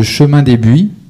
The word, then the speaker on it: Chemin des Buis: Ils vont nous parler du projet de Chemin des Buis, c'est bien comme ça qu'on prononce.